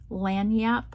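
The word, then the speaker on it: lagniappe: sent me this thing it's called lag lanyapp that's how you say it lanyapp and it says a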